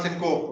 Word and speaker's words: syncope: So it's syncope, it's not syncope. Okay, that's wrong pronunciation.